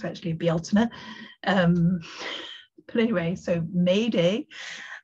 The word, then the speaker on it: Bealtaine: Gotta stop calling it Beltane because that's the Irish name for it, and the Irish want it back. And also that's terrible mispronunciation. It's actually Bealtaine.